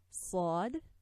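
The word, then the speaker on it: ص: And these letters, Sad, Sin, Zay, are articulated by putting the end of the tip of the tongue on the plates of our two lower incisors.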